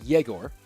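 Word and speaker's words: Егор: igor and igor uh the pronunciation of of of igor is sounds like jagor and i with an i sounds like igor just to let you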